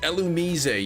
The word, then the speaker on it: Illumise: Used to call Illumise, Elumise. Well, it's pronounced Elumise.